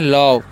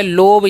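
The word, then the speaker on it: love: क्या लिखा हुआ है आगे लिखा हुआ है एल ओवी ई तो इसे हम क्या पढ़ते हैं इसे हम लोग पढ़ते हैं लव क्या पढ़ते हैं लव पढ़ते हैं अगर जो है आप इसका उच्चारण जो है लोभ या लोभे पढ़ देते हैं तो हमारा जो सेंटेंस है और हमारा प्रोनंसिएशन जो है गलत हो जाएगा इसे क्या पढ़ना है इसे पढ़ना है लव लव का मतलब क्या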